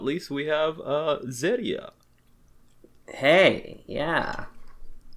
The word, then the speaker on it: Zeria: And last but not least, we have Zeria. Hey, yeah. You don't have to pronounce it with a Japanese R, but you know.